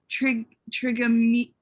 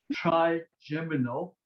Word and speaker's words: trigeminal: Trigami. I don't know how to say it. Okay. Trigeminal.